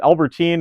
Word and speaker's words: Albertine: I think I said it right that time. I said Albertine, and Albert something before is Albertine.